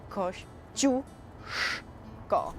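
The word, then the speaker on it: Kościuszko: so it makes it chip so you got Kosh Jule go we're in Copley Square and we're heading to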